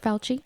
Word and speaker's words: Fauci: Fauci?